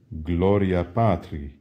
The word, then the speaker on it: Gloria Patri: how do you say glory to the Father Gloria Patri how do you say and at how do